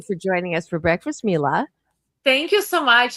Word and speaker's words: Mila: Myla or It's Mila. It's okay. I know a lot of people say Myla, but it's Mila.